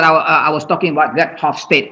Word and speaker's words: Hofstede: Here, what I was talking about, that Hofstede. I don't know how to pronounce this one, because this one is Dutch. Yeah, it's not English name. Gert Hofstede, probably Hofstede according to me.